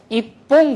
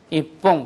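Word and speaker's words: 一本: 바뀐다고 했으니까 퐁이 돼야 되는데 있지 뽕 하려니까 발음하기가 나쁘잖아요. 그렇죠? 이쪽에서 파열음이 오려고 하니까 자연스럽게 이 녀석이 초금화를 일으키는 거죠. 그래서 이뽕 그렇게 되는 거예요. 이뽕. 그래서 담배 한 가피 주세요. 타바코 이뽕 그다사이.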